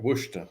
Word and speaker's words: Worcester: That's right, Worcester. That's how they pronounce it.